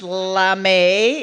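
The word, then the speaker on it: lamé: one is really long lame pronounced lamay it has many uses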